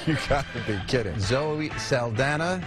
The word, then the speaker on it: Zoe Saldana: Zoe Saldana.